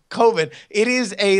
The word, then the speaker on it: Coven: And these are two guys from Wisconsin, right, that are shooting a horror film that is spelled C-O-V-N, but they are insistent is COVID.